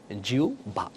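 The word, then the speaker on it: জিহ্বা: দাও তার বাকি আছে কি জিভা আর জিবা সঠিক উচ্চারণ কি হবে আহবান সঠিক উচ্চারণ আওভ সঠিক উচ্চারণ কি জিউবা তাহলে তোমাদেরকে একটা উদাহরণ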